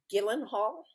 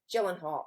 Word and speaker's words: Gyllenhaal: he had Jake uh is it Gillen Hall Gyllenhaal Gyllenhaal okay soft G Gyllenhaal on the other uh